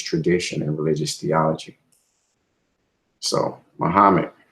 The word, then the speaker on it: Muhammad: So Muhammad, pronounced Muhammad, he was born in 570 and he died in 632.